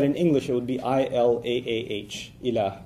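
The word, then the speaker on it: إله: to write that in English it would be i-l-a-a-h Ila it's pronounced pretty easy to pronounce in English Okay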